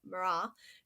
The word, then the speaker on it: Marat: then right above him also by jean-paul Marat Marat who is spelled ma are 18 and he these two